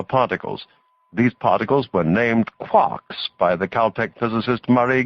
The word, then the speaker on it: quark: for mustermark the word Quark is supposed to be pronounced by quart but with a k at the end instead of a t it is used to